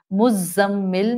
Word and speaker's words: مزمل: مزمل میں زا buzzing sound والی ہے.